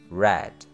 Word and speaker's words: read: Kemudian verb 2-nya tulisannya sama tetapi cara bacanya berbeda, yaitu read.